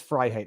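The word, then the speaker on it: Freiheit: i grew up with my last name as fry hate f-r-e-i-h-e-i-t you know growing up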